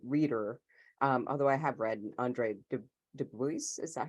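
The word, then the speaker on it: Andre Dubus: huge short story reader, although I have read Andre Dubois, is that how you say his name?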